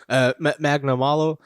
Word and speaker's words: Magnamalo: Yeah, Magnamalo.